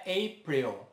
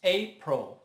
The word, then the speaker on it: April: E a pronúncia não é April, mas April. April.